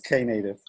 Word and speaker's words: Knative: It's Knative. Yeah, the K used to be silent. It's no longer silent.